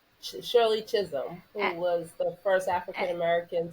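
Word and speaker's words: Chisholm: sherle um prol again helped me with the pronunciation Shirley Chisum who was the first African-American to run for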